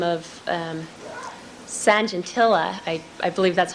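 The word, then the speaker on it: Sajantila: an individual in Holland by the name of um Sanjentillaa I I believe that's how you pronounce the name S A J A N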